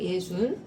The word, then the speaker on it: 예순: 예순.